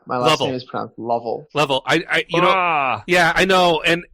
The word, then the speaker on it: Lovell: So, Brian, my last name is pronounced Lovell.